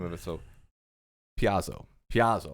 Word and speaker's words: Paizo: So Piazzo, right? How you pronounce it? Paizo.